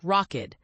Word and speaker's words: Rokid: One notable contender in the US market is Rokid, a China based tech company pronounced like Rockid.